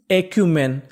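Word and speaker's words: acumen: और आगे लिखा है सी यू, सी यू को यहाँ पे पढ़ेंगे क्यू।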